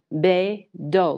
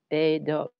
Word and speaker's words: BeiDou: So the way I remember it is hey yo. So BEIDOU.